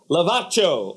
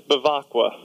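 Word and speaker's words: Bevacqua: Lavaccio on the phone right now. Yeah, that was pretty close. It's Bavacqua.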